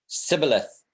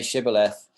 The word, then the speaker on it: shibboleth: they could improve if they couldn't say shibboleth they got killed basically it's a very